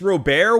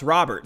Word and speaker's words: Robert: louise robert um yeah i said luis robert one time and someone told me it's pronounced robert so you know as i